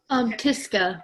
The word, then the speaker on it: Tyska: Aaliyah Carrion and Tyska. Did I pronounce that correctly? Tiska, but close enough.